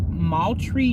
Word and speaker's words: Moultrie: young lady in lived in the city's per-mile pronounced Moultrie Georgia I'm gonna go ahead and show you